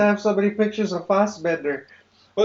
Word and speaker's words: Fassbender: I didn't know they had water bottles in fucking It's Fassbender. 17th century Spain. Pronounced Foss. Are we getting to that again? Yeah. Bethesda, fucking Fast. Fastbender.